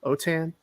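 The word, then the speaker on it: Autin: my name is last name is spelled a-u-t-i-n otan occasion so you can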